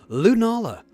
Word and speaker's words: Lunala: it's Nala let me try that again completely mispronounced that name lunala um this will be great to practice against